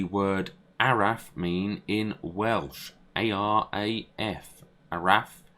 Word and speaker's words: Araf: A-R-A-F. Araf. Arif.